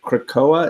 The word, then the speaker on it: Krakoa: to allow people to escape to, is it Krakoa?